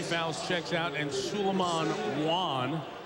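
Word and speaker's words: Wane: Voskuhl with 3 fouls checks out, and Suleiman Wan, even though it's W-A-N-E, it's pronounced Wan.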